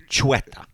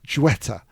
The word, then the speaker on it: Xueta: So we're heading to Majorca or Mallorca, which is pronounced Majorca. And there we'll be learning all about the... How do you say it? Xueta. Xueta.